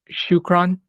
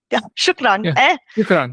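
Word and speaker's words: شكراً: your commitment and is it uh am I pronouncing this correctly uh shukron shukran yes yes in Lebanon we also very much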